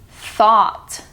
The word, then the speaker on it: thought: And then you also have thought. That one's pronounced differently. T-H-O-U-G-H-T. So instead of ew, it's three different ways to pronounce that one.